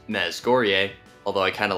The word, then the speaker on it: Mezhgorye: Mezghor, pronounced Mezghorye, although I kind of like the sound of